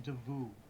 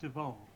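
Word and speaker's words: D'Avous: hears this my name my nickname is pronounced devu devu not dvo not Deva de why is it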